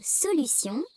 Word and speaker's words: solution: Dans le mot solution, T se prononce S.